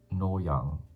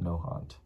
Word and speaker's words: Nohant: Also, it's pronounced Noyang, not Nohant.